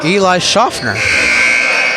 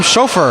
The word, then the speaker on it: Schaffner: Eli Schaffner. Told me that a lot of guys call him chauffeur. I'm like, how? There's an N in there.